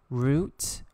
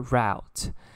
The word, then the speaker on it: route: general okay and then this next word has two pronunciation you can say it like root or route it refers to a